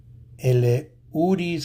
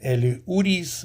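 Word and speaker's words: Elehuris: El Uris Montero. Well, that's a mouthful. El Uris, because the H is silent. El Uris Montero.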